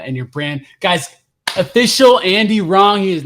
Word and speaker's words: Andy Rong: your brand guys official Andy wrong he is not wrong w-r-o-mw r-o-n-g a-n-d-y-r-o-n-g yes I always say like it's Andy wrong without the w there you go that